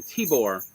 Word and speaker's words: Tibor: don't see the name Tibor very often around here so you can just do rhymes with Seymour suddenly say more so but I bring it